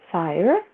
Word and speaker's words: Sire: My name Sire? rhymes with wire. Sire, wire. Okay.